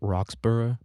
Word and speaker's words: Roxburgh: So it's called Roxburgh, right? It's like Edinburgh, but it's spelled Roxburgh, right? It's like Pittsburgh. We call it Pittsburgh. I guess they would call it Pittsburgh or something like that.